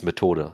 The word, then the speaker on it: Methode: Lastly, we have Auf Japanisch Methode. Uh-huh. Uh, and yeah, you got to help me with the German on this one. I Oh, it's similar. It's Methode.